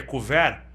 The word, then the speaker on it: couvert: chama de curva era você sabe o que que é com vera se escreve couvert né então converis eles